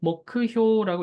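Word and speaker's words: 目標: 목크효라고 읽습니다. 자, 네 번째. 네 번째가 조금 어려운 한자일 수 있을 것 같아요. 가만이라고 읽는데요.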